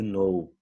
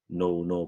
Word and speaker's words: know: Porque a nossa tendência no português é ler tudo que está escrito ali, né? Se a palavrinha aparecer, se a letrinha apareceu, nós vamos pronunciar. Tony, tem um K ali, Tony, pelo amor de Deus. Onde já se viu, botaram um K no negócio, por que não falaram só know?